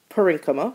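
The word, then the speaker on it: parenchyma: of cells are called parenchima I also had a professor that pronounced them parinama so I don't know which one you're familiar with but I pronounce them parenchima so I've heard other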